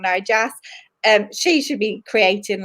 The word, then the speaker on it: Narjas: Graphics like Narjas, I said it wrong, Narjas.